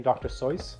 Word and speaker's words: Dr. Seuss: You know, you're supposed to pronounce his name Dr. Seuss.